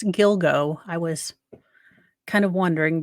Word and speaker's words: Gilgo: yoga Beach task force okay so that's how you pronounce the beach it's Gilgo I was kind of